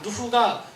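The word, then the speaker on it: نوح: 누흐가 노아의 이슬람식 발음이에요.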